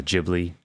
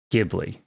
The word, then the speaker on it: Ghibli: go with it all hard g g ghibli right is that correct okay ghibli all right i think